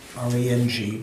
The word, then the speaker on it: Rang: The translation of self-cherishing, Rang Chen Zin Yilo. Rang, R-A-N-G. Like if we're just, you don't mean in Tibetan, you mean like phonetically, right? Yeah. R-A-N-G, Rang, not Rang, as in wrangling and ding-dong.